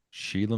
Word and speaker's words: Shelagh: You ever heard of Sheila McDonald? Sheila McDonald. No. And that's spelled a very Scottish way, Shelagh.